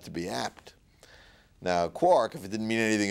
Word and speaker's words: quark: so I spelled it quar K now Joyce undoubtedly meant it to be pronounced quark because it goes with bark and hark and mark and so on but but I figured